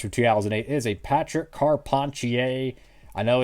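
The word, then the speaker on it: Carpentier: 2008 is a Patrick car ponier I know his last name kind of looks like it's pronounced Carpenter but it's car ponier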